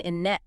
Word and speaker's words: internet: Many native speakers, especially Americans, will pronounce the T after the N very softly or drop it entirely so it sounds like internet or even innet.